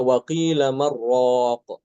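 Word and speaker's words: وقيل من راق: Dari sini Imam Al-Kisai tidak disaktahkan, bahkan diidghamkan, nunnya itu diidghamkan ke ro. Nah, jadi dibacanya waqila marraq ya, seperti itu. Waqila marraq tanpa saktah ya. Jadi langsung diidghamkan nunnya ke dalam ro tanpa guna.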